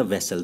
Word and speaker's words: vessel: Next जो चीज़ है वो क्या है, उसी से मिलता जुलता वैसल। दोनों के स्पेलिंग में डिफरेंस देखा आपने, ये क्या है, VASSAL, वैसल, तो ये हो गया क्या, गुलाम।